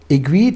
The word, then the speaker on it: Aiguilhe: the consumer had admitted a new brand name agreed 20 years ago was completely unknown now the people no agree and agree is not easy well agree yeah